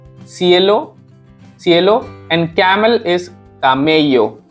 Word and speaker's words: camello: So here is cielo, cielo, cielo, and camel is camello. It sounds like ka, camello in Spanish.